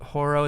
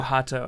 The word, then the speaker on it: Hato: I can't go with Horo. Is that how you say his name, Horo? I think it's Jorrel Hato. Yeah. Oh, Hato. Okay, yeah.